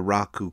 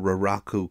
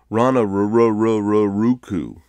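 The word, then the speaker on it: Raraku: and that's the Rano Raku crater the locals make fun of how tourists can never say it right I had a guide once say in an American accent Ruku one specific Clan controlled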